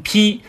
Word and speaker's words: 背: 为外衣，这里的背呢是读成披，以渭水